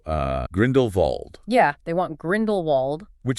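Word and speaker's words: Grindelwald: Yeah, they want Grindlewald, which is funny because you know Grindlewald is a Germanic name. He built Nurmgar. In German, the W is pronounced like a V. So technically speaking, Grindlevald is actually the more accurate pronunciation.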